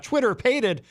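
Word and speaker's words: Twitterpated: It's actually pronounced Twitter Pated, and then coming up we have Under the Horizon is going to be here with us live in studio.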